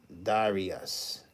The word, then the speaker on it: Darius: The pronunciation is Darius.